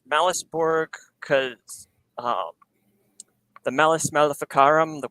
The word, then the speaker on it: Malus Borg: And am I saying it right, Malus Borg? Yep. It's Malus Borg because the Malus Maleficarum, the Witch's Hammer, the infamous book of witch hunting.